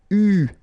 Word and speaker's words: eu: And this is pronounced, so it's an exception because normally you should pronounce it differently, but, so it's an exception, it is pronounced U, okay?